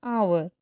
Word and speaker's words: hour: will reach in an hour like H is there but without the sound of H we pronounce it as our or our we use